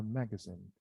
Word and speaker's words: magazine: Oh, by the way, I have heard a lot of students mispronouncing this word. Instead of they say magazine. Not magazine. Magazine, yes. Magazine, no. Hotel, yes. Hotel, no. Be careful when you're about to say out such tricky words. Make sure that you know, that you remember how to pronounce these words correctly.